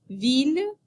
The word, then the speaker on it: ville: The letters ILL are pronounced il in the following words: ville, village, mille, and l'île.